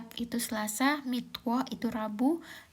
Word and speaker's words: Mittwoch: Oke, aku jelasin aja ya cara bacanya. Montak. Montak itu Senin, Dins itu Selasa. Mitwo itu Rabu, Dona itu Kamis, Friday itu Jumat, Samstag itu Sabtu, sontak itu Minggu.